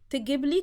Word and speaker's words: تجيبلي: تجيب, when it's not connected with a suffix like li, for me, we say يجيب, تجيب, to bring, okay? But when we add gibli, or when we add the li afterwards, the vowel sound is shortened, so we say تجيبلي.